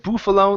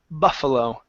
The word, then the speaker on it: buffalo: So this here instead of buffalo, the word is buffalo.